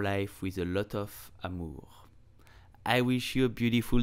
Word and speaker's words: amour: mean love in English so how do you pronounce love French you will say Amour Amur amor we use this word a lot but do